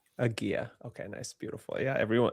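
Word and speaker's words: Hygieia: Igia. Agia.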